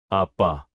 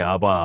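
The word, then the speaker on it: אבא: 아도나이엘로의 아바 아바 아바 아버지 그들은 하나님을 아버지라고 부르고 있었습니다. 그런데 그 발음이 아바가 아니라 아빠에 더 가까웠습니다. 아빠 들리세요?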